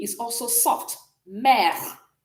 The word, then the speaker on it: mère: Mother is mère. Mère. So the E is also soft. Mère.